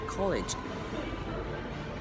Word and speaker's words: college: next we have this college the e is silent it doesn't make a sound so it's called ledge